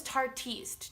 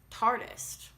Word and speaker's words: Tarteist: I feel like everyone says Tarteist. Do you guys know that's not how you say it? I saw it somewhere, and Tarte just said it's like artist, but just Tarteist.